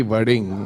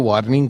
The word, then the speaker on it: Warring: नहीं नहीं आपने तो अच्छा प्रोनाउंस कर दिया कि वर्डिंग अदरवाइज कई तो वार्निंग कह देते हैं मेरे को। वार्निंग कहते हैं।